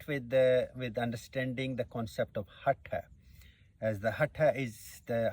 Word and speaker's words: Hatha: So the word Hatha comes, or to begin with, I have heard people pronouncing Hatha. It's the word is Hatha, and it comes from the two Sanskrit roots, Ha and the Ta.